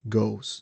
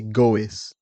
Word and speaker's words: goes: Uh one thing that is important to mention is that even though we have the e in the word we don't pronounce it. So you say goes we don't say go is.